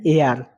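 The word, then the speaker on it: heir: বসে তারপরে কি আছে এ আর এর উচ্চারণ হবে এ আর তাই এর আগে এন বসে এন এ আর মানে উত্তরাধিকারী হোটেল হোটেল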